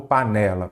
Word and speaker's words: panela: lá p né lá qual que é a sílaba tônica panelar panela ou panela panela então é a penúltima aí você já sabe